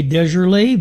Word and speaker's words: DeJarlis: I say DeJarlis because that's the way I think it should be pronounced.